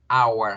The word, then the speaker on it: our: nuestra casa es pequeña al igual que la pronunciación agua como si fuéramos a decir la palabra agua sin la g de gato en la mitad agua our house es común ella